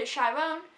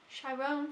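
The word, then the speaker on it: Chiron: progression of the character chyron shyron is that how you say his name it's been a while sh yeah says on the back here that's must have be how it says and yeah I I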